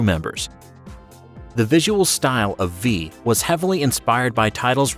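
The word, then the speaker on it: VVVVVV: The creator calls the game V himself, but encourages any sort of silly pronunciation.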